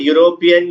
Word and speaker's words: European: sounds now look here european is actually starting with e which is a vowel but when you pronounce the word european when you pronounce the word european you have the sound of a you and it feels as if the word is starting with a y whenever you have your